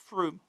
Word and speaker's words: Frome: The new boy is 19-year-old Pat McDonald from Frome, pronounced Froome. Okay, Froome. For you non-West Country folk.